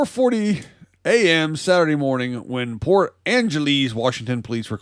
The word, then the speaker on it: Port Angeles: this comes out of port angeles washington or angeles if you want to mispronounce it police have arrested a